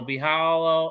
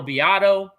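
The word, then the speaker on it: Biado: great team behind them um you know carlo bijal oh carlo biato i pronounced his name wrong um um roland garcia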